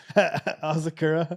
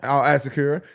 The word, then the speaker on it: Asakura: Asakura. Asakura.